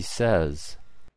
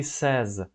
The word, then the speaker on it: says: Again, does, because he does, present simple, and she says, yes, so mind your pronunciation. So we say infinitive is say, but when we say she says, we don't have this y sound.